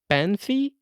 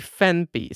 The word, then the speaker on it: Phanpy: of an app called Phanpy, which I always pronounce in my head Phanpy, but it's actually Phanpy.